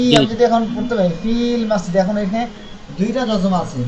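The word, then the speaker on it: في المسجد: কোনো একটা হরফ থাকে, তখন ওই হরফের উচ্চারণটা বাদ পড়ে যায়। আর এটা কি উচ্চারণ করাও সম্ভব না, এই জন্য সহজভাবে বলা হয় ফিল মসজিদি।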